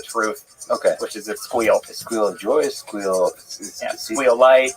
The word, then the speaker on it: SQL: It's squeal. Squeal. You squeal. Squeal. Squeal. I think it's the correct way. Squeal. I did sequel because I didn't, you know, I didn't know the audience.